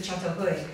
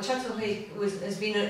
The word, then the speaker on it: Çatalhöyük: You spell it C, it's a soft C because it's Turkish.